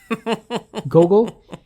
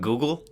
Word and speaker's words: Gogol: I was going over some notes on Gogol, and I was looking at the translator, the PVR. What's his name? Gogol. It's not Google.